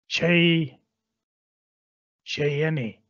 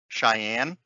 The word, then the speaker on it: Cheyenne: where every shot counts with a lone gun Che enny I think Cheyenne that could be it c-h-e-y-e-n-n-e yeah Cheyenne okay thank you because I I